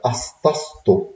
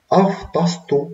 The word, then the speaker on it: أصطصته: على فكرة هي أصطصته، لأن هنا أفطسته معناها رده، لكن أصطصته يعني ردته، فهنا المفروض تبقى أصطصته. هي هتبقى صعبة شوية في النطق، بس هي الأصح حسب القبطي ردته، يعني اللي بيقوم بالفعل مؤنث، فتبقى أصطصته. حرف السيتا اللي منكم يعرف قبطي، لو جه بعد حرف السيما بيتنطق ته من السه، فتبقى هنا تو أفطسته.